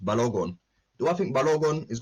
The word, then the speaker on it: Balogun: do i really think badagon oh sorry pronounced balogon do i think balogun